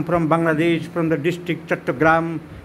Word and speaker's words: চট্টগ্রাম: এখন চিটাগাং নয়, চট্টগ্রাম। সাহেবরা উচ্চারণ করতে পারতো না।